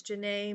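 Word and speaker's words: Janay': And my name is Jana. J A N A Y with an accent on the Y. I usually use an apostrophe.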